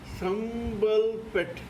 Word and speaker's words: Sambalpet: The name of this story is Sambalpet SAMBALPET. Sambal, it may also be pronounced as SAMBHALBET. PET. SAMBHALPET. Sambalpet. The Amazon Kindle of this particular story is B06XYNTWXJ.